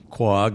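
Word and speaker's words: Quogue: Am I going to pronounce it wrong or right? Is Quag, right? Quag, not to be confused with Quiog, it's neighbor.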